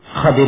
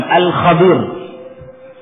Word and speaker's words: Khadir: Ada 2 pengucapan dari nama Khadir ini. Yang bersama Nabi Musa alaihissalam, ya, disebut Khadir dan juga disebut dengan alif lam Al-Khadir. Dua-duanya boleh.